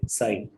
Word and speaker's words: Psi: ठीक है, इसको इस तरीके से प्रोनाउंस करते हैं, PSI, PSI साई।